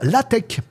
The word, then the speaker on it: LaTeX: Voilà, ça se base sur la tech. Alors, ça s'écrit latex. Bon, on fait comme on veut mais il paraît que ça se dit la tech.